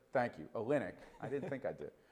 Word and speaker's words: Olynyk: cavs win would keep kelly olnick did i pronounce that right olynyk thank you olynyk i didn't think i did from the second